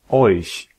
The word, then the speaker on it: euch: pour toutes les autres combinaisons, c'est ch. Par exemple, Ich. Euch. Echt.